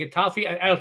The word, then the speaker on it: Getafe: And Getafe, am I pronouncing that correctly, Pavlos?